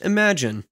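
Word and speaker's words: Imagen: images it apparently the the Google model is actually pronounced imagine let's say we want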